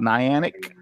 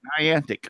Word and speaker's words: Niantic: $10 I've seen that Niantic I call it anionic Riverwood crafting huh I forgot to how do I say it ninety-nine antique that's what I thought it was you're right I'll tell you you're saying it right Niantic okay thank you yeah thank you I appreciate